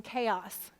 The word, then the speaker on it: chaos: Because where is the syllable breaking in chaos? After the A, chaos.